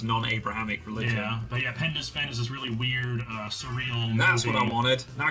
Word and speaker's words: Penda's Fen: you should try watching Penda's Fen. Oh yeah, Penda's Fen. Say that with your American rhodic words so people can understand my non-slurry. You say it how it's spelled. It's Penda's Fen.